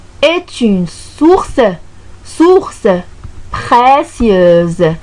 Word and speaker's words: précieuse: Source précieuse. Donc, S ici, donc, elle est donc prononcée en Z. Pourquoi? Parce qu'il y a voyelle avant et voyelle après. Il y a le U et le E.